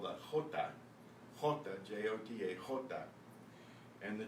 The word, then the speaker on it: jota: And, excuse me, the way you make the sound is in the back of your throat, like an H, except it's coming out of the guttural part of your voice box.